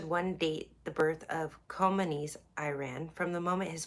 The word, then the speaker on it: Khomeini: It's Khomeini. I always hate when I mispronounce names because I hate when people mispronounce mine.